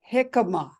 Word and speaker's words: jicama: to know I um jicama is that one yeah am I saying it right yes yes it's actually like spelled with a J you know right like yeah please j i c a m a oh okay yeah